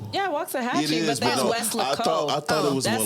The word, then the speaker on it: Weslaco: I've been saying Walasco for so It's not long. Waxahachie? No, it's Weslaco. Wow. Wait, is Waxahachie a thing? Yeah, Waxahachie, It is, but that's no, Weslaco.